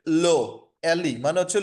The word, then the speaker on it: le: একটা হচ্ছে LE, এটার উচ্চারণটা হচ্ছে লো, LE মানে হচ্ছে লো, এটার মানে হচ্ছে দা।